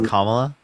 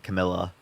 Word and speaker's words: Kamala: to call the way it's kamla like I don't know why you're saying Camila cam Camila Harris Kamala kamla Harris you you pronounced my